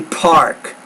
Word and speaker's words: park: And when you say park, I want you to put a little more air on that P there. That's a very explosive consonant. A park, park, park. Pronounce it with more air.